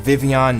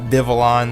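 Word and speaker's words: Vivillon: it's it is pronounced vivon not vivalon like a lot of people think it is the L's are pronounced like a y because it's supposed to be like French or something but anyway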